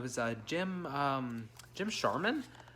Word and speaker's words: Sharman: a gym um jim sharman that's charmin right no it is charmin but it's not spelled like charmin uh so really nice